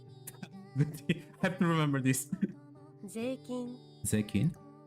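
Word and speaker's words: 税金: Zeikin. See, the I disappears.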